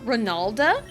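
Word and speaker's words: Ranalda: Because I used a Nidoqueen in Heart Gold, and I gave it the nickname Ronalda, and it's spelled R-A-N-A-L-D-A, Ronalda.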